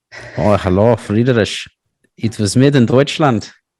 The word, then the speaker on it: Friedrich: I think it's German, and I used to say Frederick when I was a little kid because I didn't know how to pronounce it. It's probably Friedrich. Oh, hello, Friedrich.